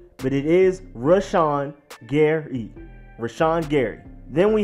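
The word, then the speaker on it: Rashan: can twist up this name but it is rush on Gary rashon Gary then we have safety Deonte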